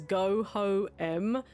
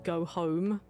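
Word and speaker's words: Goho-M: Because I was pronouncing the item as go-ho-em when it was actually supposed to be go-home.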